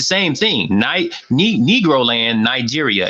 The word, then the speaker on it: Niger: that also consisted of Niger - you know Niger is a country yeah tonight is actually pronounced night year yeah exactly stay they